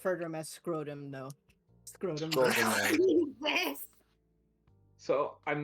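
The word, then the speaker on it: Schrödinger: Schrodinger. Schrodinger. Shro. It's like Shro. It's a Schrodinger. German name.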